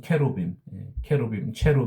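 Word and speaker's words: cherubim: 거기에 이제 그 스랍이라고 하는 그 세라핌 천사들이 나오고, 이 그룹은 이제 영어로는 체루빔 또는 케루빔이라고 부르는데 조금 발음이 다릅니다.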